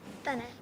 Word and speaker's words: Tanay: Tanay, yes.